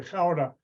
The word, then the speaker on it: Gouda: And he pronounced it wrong. He said Gouda, but it's really Gouda.